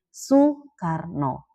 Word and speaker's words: Sukarno: ejaan Van Ophusen itu, walaupun dibacanya U tapi kan penggunaannya tetap OE. Nah, untuk ejaan Swandi ini akhirnya dihapuskan, diganti aja. Kalau memang dibacanya U, ya udah ditulisnya U gitu. Maka untuk nama Soekarno dalam ejaan Van Ophusen, untuk ejaan Swandi diubah menjadi Sukarno. Tidak lagi menjadi Soe, tapi menjadi Su gitu berdasarkan bunyinya.